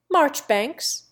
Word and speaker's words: Marjoribanks: John, Poole for Powell, Weems for Wemyss, Cadogan for Cadogan, Mowbray for Marlborough, Key for Keynes, Marchbanks for Marjoribanks, Beauchamp for Beauchamp, Chumley for Chalmondley, Trossley for Trotter's Cliff, and Darby for Derby, not to mention Magdalen for Magdalen.